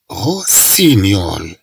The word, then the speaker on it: rossignol: Comme tu l'as vu, on a un rossignol.